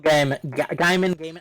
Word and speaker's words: Gaiman: I mean, Terry Pratchett and Neil Gaiman, I still don't know how to pronounce his name. Gaiman.